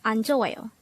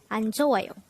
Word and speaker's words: 안좋아요: study about the word anjoyo. Let's start. Learn Korean one word at a time, only here at Dae-Hangul. Word number 155. Anjoyo. Anjoyo. This is pronounced as a four-syllable word.